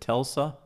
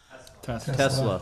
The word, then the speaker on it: Tesla: to pronounce this wrong is it telsa tesla thank you you must be doug